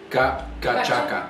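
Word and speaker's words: cachaça: How do you pronounce this? Gacacha? Gachaka.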